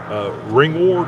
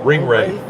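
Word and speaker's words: Ringwraith: Ring Ward, is that how you say it? Ring Wrath, Ring Wraith. Ring Wraith.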